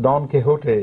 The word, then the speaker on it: Don Quixote: It's pronounced Don Quixote in Spain, Don Quixote.